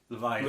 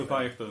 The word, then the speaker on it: Leviathan: Leviathan. Leviathan. Yeah, or Leviathan. You just said the beginning of the word and the end. Yeah. You missed out the I middle. missed that syllable there.